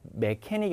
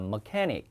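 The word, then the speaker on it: mechanic: 여기 이제 기계 수리하는 사람은 우리가 메케닉이 아니라 머케닉 이렇게 있는 겁니다.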